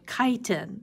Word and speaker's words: chitin: walls are made of something called chitin that's how you pronounce that and they also are